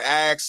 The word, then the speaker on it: ask: Axe. You got to axe. It's not a K. It's not a K. It's ASK. So say it again then.